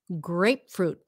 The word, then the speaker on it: grapefruit: grapefruit correctly grapefruit grapefruit grapefruit you know why it's so hard first of all okay grape um grape it's a stopped p grape and then fruit stop T at the end grapefruit grapefruit grapefruit grapefruit